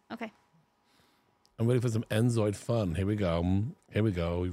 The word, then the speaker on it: inZOI: There's no D on InZoi? Yeah. Oh, InZoi. If I played it, haven't I InZoi'd it? But you might want to say it correctly, you know. Oh, because then they might think I'm stupid. Just, yeah. Yes. No, not right, they're like, hey, guy, it's InZoi, not InZoid.